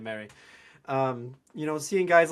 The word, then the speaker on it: Marie: So, yeah, it is it is Paul Mary for fans out there um who call him Marie. You can still call him Marie, but that's that's how he pronounces his last name, Mary.